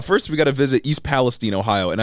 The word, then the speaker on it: Palestine: we gotta visit East Palestine Ohio and I heard that it's uh pronounced Palestine instead of Palestine I I guess so